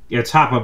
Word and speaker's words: Hoppe: It's Hoppa because it's German.